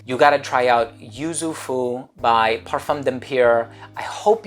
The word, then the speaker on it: Yuzu Fou: Yuzu Fu, and it rhymes and it kind of rolls off the tongue.